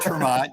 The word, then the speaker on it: Ter Maat: It's Ter Maat. Your name is pronounced Larry Sharp.